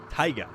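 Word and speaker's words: Tayga: wonderful cast corvette dude taga is pronounced taiga as in shutai um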